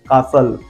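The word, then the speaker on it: castle: हमारा T silent है second word is कासल सी ए एस टी एल ई यहां पर भाई एसटी एल का सेंस है इसलिए टी साइलेंट जा रहा है और थर्ड वन इज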